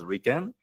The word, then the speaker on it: RIKEN: And this is in Japanese pronounced as Riken. Then the Riken headquarters decided to use this Japanese acronym as our official name.